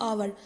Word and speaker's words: hour: Number 5 पे spelling दी हुई है आवर। अब देखेंगे कि स्पेलिंग तो एच से स्टार्ट हो रही है, HOUR, लेकिन एच इसमें साइलेंट वर्ड है तो एच हम बोलेंगे नहीं।